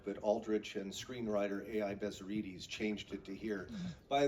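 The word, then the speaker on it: Bezzerides: Bezerides changed it to here. By the way, you hear his name pronounced Bezerides, but I'm preferring the more correct Greek Bezerides.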